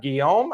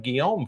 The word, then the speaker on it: Guillaume: I'm going to have Guillaume. I think that's how you say his name is Guillaume.